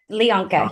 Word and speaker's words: Leona: Leona. Yes. Leona. Yes. Like Bianca with an L.